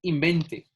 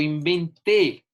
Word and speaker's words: inventé: Si yo digo, esta palabra la pronuncio como está, dice invente. Invente una máquina. No, yo inventé. Yo inventé una máquina.